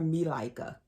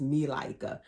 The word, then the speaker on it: Malika: But her baby's name she called her Milaika, but the correct, most people would pronounce it, and it's spelled Malika, but she said her name was Milaika.